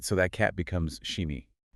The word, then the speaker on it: SCHIMI: which is spelled SCHIMI, we have to apply the German rule where SCH makes an English "sh" sound. Oh right, so that cat becomes Shimi.